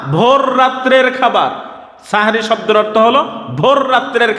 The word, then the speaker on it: সাহরি: বিষয় আপনারা লক্ষ্য করুন এই শব্দটা উচ্চারণ করতে অনেক সময় মানুষ ভুল করে ফেলে অনেক সময় মানুষ বলে সেহরি আসল শব্দ হলো সাহারি সিন হা বড় হা র সাহারি এই সাহারি শব্দ সাহারুন